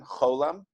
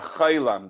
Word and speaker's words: Cholam: Cholam. And it goes O. And just interesting to note, if a person is more Ashkenazic, they would actually pronounce this as ay. Like a chaylam, they would say.